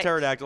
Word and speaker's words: pterodactyl: a paradictal right uh pterodactyl i don't know what what am i talking about i'm losing my mind it's why the p is silent is what it is this is a pterodactyl i thought this was